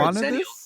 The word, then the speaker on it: Xennials: No, I'm sure exennials like xylophone.